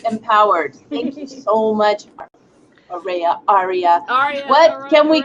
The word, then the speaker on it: Arayeh: AR is good yeah the way you pronounce like Americanized is good ar ar is Aria or ARA well really ARA okay I'll just think